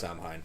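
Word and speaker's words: Samhain: Band by the way Sam Hein yes Sam Hayne however you pronounce this one I think you said it right the first time uh but they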